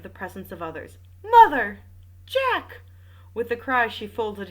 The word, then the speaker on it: Jack: called Jack Renauld and it is spelled Jack not Jacques so I'm saying Jack what the next development